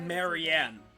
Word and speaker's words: Marianne: instead of feed oh Marianne I didn't know Marianne right that's how you pronounce that oats aren't enough but for a